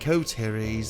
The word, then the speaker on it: Coteries: he saying it right i'm saying it right coteries of new york all right let's have